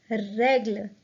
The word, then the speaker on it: règle: The first E of the word règle has an accent, so it will be pronounced as règle.